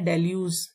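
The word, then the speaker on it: deluge: इसकी प्रोनाउंसिएशन है डेल्यूज, ग की साउंड नहीं आ रही।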